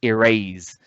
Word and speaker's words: erase: as in the word erase. The word erase has how many syllables? 2. And the most prominent part of the word is the second syllable.